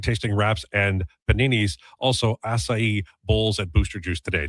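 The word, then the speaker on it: açaí: Also acai bowls at Booster Juice today. Did I pronounce it right?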